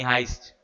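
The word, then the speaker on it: heist: है ना, money हाइस्ट, sorry हीस्ट बोला क्या मैंने, माय बैड, मनी हाइस्ट, ठीक है।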